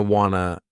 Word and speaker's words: wanna: Wanna is short for want to and is reduced by the same pattern.